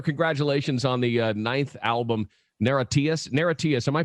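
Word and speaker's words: Niratias: on the ninth album naratius neretias am i pronouncing that right it's a made-up word you can say it any way you like we say we say narratives okay yeah hey i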